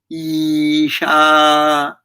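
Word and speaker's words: ईशा: saying look at me isha so this is a long vowel so you should have to pronounce long when you say ooh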